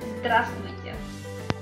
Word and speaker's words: здравствуйте: So the word hello in Russian will be здравствуйте. Здравствуйте. Здравствуйте. I'm going to pronounce this word a little bit slower so you can understand it better.